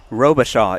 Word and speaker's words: Robichaud: Robichaud is how you pronounce that one player's name.